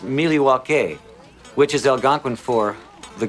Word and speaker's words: Milwaukee: Indian name he espied it is actually is pronounced Milwaukee which is Algonquin for the good land I